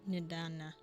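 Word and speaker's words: Nidhana: Nidana. So that H is silent.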